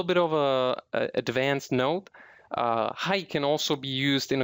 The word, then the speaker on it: はい: Same as in English. Anytime you would like to say yes, you would say はい。 hi.